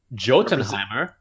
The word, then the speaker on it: Jotunheim: Jotunheimer, which is the home of the giants. I think it's pronounced Jotunheim.